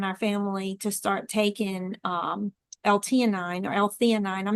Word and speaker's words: L-theanine: family to start taking L-theanine or L-theanine. I'm not sure how you pronounce I it. think it's T9. Yeah. It has an H in it, but we've always said L-theanine.